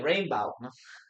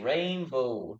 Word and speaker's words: rainbow: word rainbow rainbow okay we don't say rainbow rainbow no we say rainbow like go rainbow okay yeah very